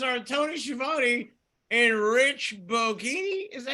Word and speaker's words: Bocchini: The commentators are Tony Schiavone and Rich Bocchini. Is that how you say it? Bocchini?